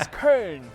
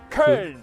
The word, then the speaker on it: Köln: The name is Köln. Say it with me. Köln.